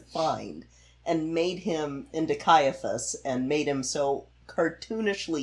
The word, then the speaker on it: Caiaphas: Yeah, and you're going to have to help me with the pronunciation. Is it Caiaphas? Caiaphas.